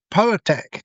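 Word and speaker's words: PauaTech: Anyway, he now has a company called Power Tech. Now, it sounds like power tech, which is it's a play on the the word, but it's spelled P A U A tech.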